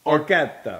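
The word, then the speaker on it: orecchiette: I always say it wrong. Orquieta. Yes. Orquieta. Orquieta. Orquieta. And you have to say it like that.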